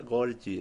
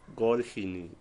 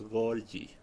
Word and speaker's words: Golgi: Si se pronuncia Golgi, no Golgi ni nada raro, es Golgi.